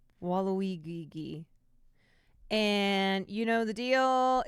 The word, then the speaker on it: Waluigi: sending you over to wall woi that is not how you say it Waluigi and you know the